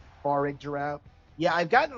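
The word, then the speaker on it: Farigiraf: How do you say it? Farig Giraffe. I think it's Farig Giraffe.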